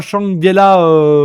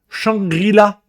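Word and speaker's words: Shangri-La: Et c'est pas Shangela frontière, c'est Shangrila.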